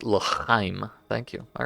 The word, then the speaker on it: L'chaim: Phonetically, it is l'chaim.